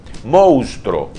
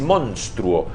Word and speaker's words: monstruo: Así como se escribe. Si uno lee lo que está escrito, dice monstruo. Me voy a ayudar con este pizarroncito. Fíjate. Fíjate cómo se escribe monstruo. Hay que leer monstruo.